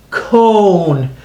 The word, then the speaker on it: cone: a cube that's right we added a silent e at the end so we turn this con into a cone because the silent e is so strong it makes the o say its name instead of uh I love octopus oh it makes the ol same name it says its name cone and the e is